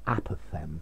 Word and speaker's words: apophthegm: first one's american and notice the pronunciation as well apathem there's no g in it um normally an